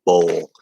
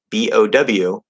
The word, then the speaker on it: bow: ode, old, code, cold, and then bow and bowl. And keep in mind this word bow, there are two words with two completely different meanings and two different pronunciations that share the same spelling. Okay, B-O-W.